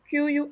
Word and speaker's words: qui: mentioned that on francais the letters q and u when combined they make the sound or similar to the english key so qui would be ki because the letter i